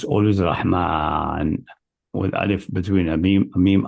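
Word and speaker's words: رحمن: But pronounced always Rahman, with alif between a meme and then.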